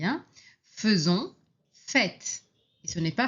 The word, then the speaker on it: faisons: Attention, ici on prononce feu même si on écrit a i hein. Faisons.